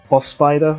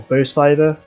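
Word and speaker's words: Bospider: Also, this boss is called Boss Spider, or Bow Spider. It's like B-O Spider, it's spelled.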